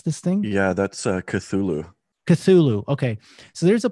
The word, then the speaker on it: Cthulhu: um it's from a film i think it's spelled like c-t-h-u-l-h-u see if i can see t-h-u-l-h-u anybody knows how to pronounce this thing yeah that's uh cthulhu cthulhu okay so there's a plug-in called cthulhu